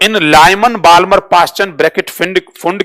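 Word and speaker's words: Pfund: P silent होता है इसमें, फुंड।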